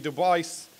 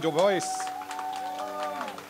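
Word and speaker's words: Du Bois: wav device that's how he pronounces it he is the co-founder of the n-double a-c-p please welcome to the inductee Hall of Fame wav toh voice next year you'll see his poster hanging up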